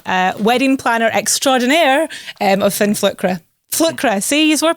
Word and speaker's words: Fin Flükra: I am a wedding planner extraordinaire of Fin Flükra. Flkra, see, you were pronouncing it right. It's all good. Yeah, well, let's talk about the name. Fin Flükra.